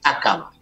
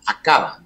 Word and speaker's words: Aqaba: Pero del lado derecho tiene un brazo que llega, que es el Golfo de Aqaba, o de Aqaba. Me gusta más la primera pronunciación. Aqaba.